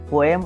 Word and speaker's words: poem: This word POEM has 2 syllables, not 1. All English teachers must be very familiar with that. It has 2 syllables. Yes, they should be. If we go by this, it either should be poem, poem, or poem. Yes. Poem cannot be there because poem has only 1 syllable.